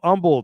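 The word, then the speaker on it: Humble: cool giveaways yeah old Umble you don't pronounce the h he's here with us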